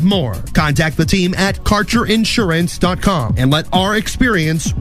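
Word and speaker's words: Kaercher: Your connection to quality cannabis insurance services is spelled K A E R C H E R. That's Carter Insurance.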